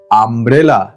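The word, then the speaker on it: umbrella: এর সাউন্ড কি আ ইউ এর সাউন্ড কি আ উদাহরণ আমব্রেলা এর থেকে ভালো উদাহরণ হতেই পারে না ইউ দিয়ে অনেক অনেক শব্দ আছে কিন্তু এর থেকে ভালো উদাহরণ ইউ দিয়ে হতেই পারে না আমব্রেলা আ ঠিক আছে আমব্রেলা বানাটা কিন্তু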